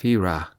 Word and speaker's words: Fira: “Santorini is a beautiful place, especially Fira (pronounced fee RAH),” Mrs.